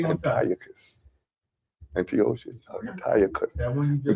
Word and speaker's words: Antiochus: Antiochus. Antiochus. Antiochus. That one you just. Antiochus is closer because it has a CH.